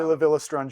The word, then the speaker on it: La Villa Strangiato: there's always this huge debate on how to pronounce it. La Villa Strangiato? How do you say it? I say La Villa Strangiato.